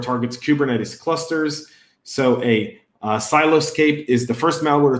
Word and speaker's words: Siloscape: He dubbed it as Siloscape, which he pronounces as Silo Escape.